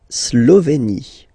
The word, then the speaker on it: Slovénie: La Slovénie. Remember, you get this E accent aigu here, it's E. Slovénie. Final E, as usual, not pronounced.